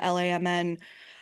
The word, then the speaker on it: LAMN: You don't just say it as a like a you don't just say the letters. You say it like out loud, like an acronym. It's just you just say pronounce it LAMN, which to me seems